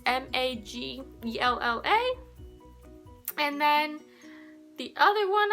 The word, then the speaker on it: Majella: So I watch Majella, it's Maggella.